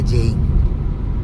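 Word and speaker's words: Jeying: तो पहले जी ई वाई आई एन जी लिखता था जेइंग को। तो अभी ऑब्वियसली प्रोनाउंसिएशन तो जे से शुरू होता है। तो अभी उसको वो लोग चेंज कर दिया। जी को हटा के जे ई वाई आई एन जी कर दिया।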